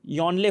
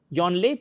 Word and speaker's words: Yongle: So Yongle Blue Hole, G is silent actually, Yonle hoga, Yonle Blue Hole.